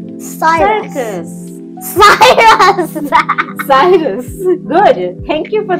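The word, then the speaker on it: cirrus: clouds so this one is called Cyrus cus Cyrus Cyrus good thank you for correcting my pronunciation Cirus Cyrus Cyrus See Is size cus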